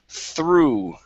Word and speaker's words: through: the word through okay so now this time the o-u-g-h is an oo sound the word is through through okay one more time end with that ooh sound only okay through through